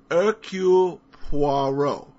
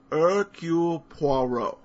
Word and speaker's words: Hercule Poirot: I might suggest the phonetic pronunciation. Here goes. Hercule Poirot. Hercule Poirot. I think the Poirot sounds most believable.